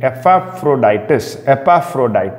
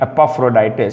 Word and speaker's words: Epaphroditus: A person by the name Epaphroditus.